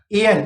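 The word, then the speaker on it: heir: यानी यहाँ पे आया एयर, इसको बोलते हैं एयर, मतलब उत्तराधिकारी, एच ई आई आर। अब देखो एयर साउंड कर रहा है, एयर, ए पहला अक्षर है, तो हमने क्या लिखा?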